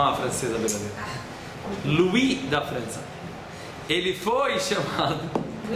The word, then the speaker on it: Louis: Você não pronuncia o S. Você não é uma francesa verdadeira. Louis da França.